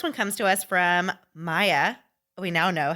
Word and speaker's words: Maya: So the first one comes to us from Maya. We now know how to say her name. She corrected. It's not Maja.